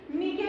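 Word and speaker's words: niche: कुछ बोल देता है, बट करेक्ट प्रोनाउंसिएशन नीके ही होती है इसकी। नीके में क्या है, नीके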